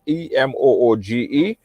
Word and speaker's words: Emoji: It's spelled Emoji, Emooge.